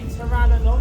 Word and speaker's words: pteranodon: Now, this is a pteranodon, that's a silent P by the way, and we can't touch